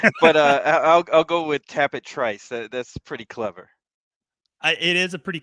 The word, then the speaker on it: Trice: And there was some debate over how to pronounce the Trice. I remember at one point Yes. that people were trying to say it was Trice. Trice, Oh, and it's like, yeah.